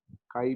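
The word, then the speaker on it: χ: A little curved and this is spelled as CHI, red as sky, ठीक है, हिंदी में लिख देता हूँ, काई पढ़ लेना, चाई मत पढ़ना, सर चाई, चाई नहीं पढ़ना है, काई।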